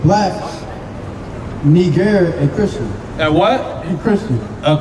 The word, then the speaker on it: Niger: Because it's spelled N-I-G-E-R. So we would say Niger kind of like now, right?